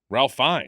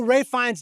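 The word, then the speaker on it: Ralph Fiennes: Ralph Fines. Oh, Ray Fines.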